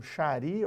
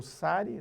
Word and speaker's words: sari: hindu ela está usando um sharia ou Sari depende da pronúncia e ela tem um